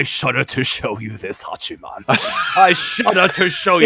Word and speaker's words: Hachiman: Hachiman. I say it like that because I always want to say Hachi-Man, but that's probably my New York in there.